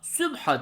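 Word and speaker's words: سبحة: sübha sesletimi üzerinden yapacağız Tıpkı hutbetul kelimesini sonundaki yuvarlak t harfini adeta yutarak hutbe şeklinde okuduğumuz gibi sübh hatunu da sübha diye telaffuz edeceğiz Yeri geldi Arapça tesbih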